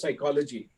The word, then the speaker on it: psychology: So I'll talk about another P, which is psychology. This time it is silent.